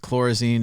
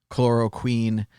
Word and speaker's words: chloroquine: Clearly, fish tank chlorozine is not the same as medical chlorozine, so on and so forth. I'm sure I'm saying it wrong. Chloroquine.